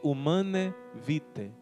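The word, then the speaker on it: Humanae Vitae: Paulo 6º humane Vitae se escreve humana e Vitae mas se pronuncia humana erviti e também o documento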